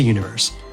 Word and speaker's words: univer.se: Head to Universe. That's univer.se, but the dot is silent.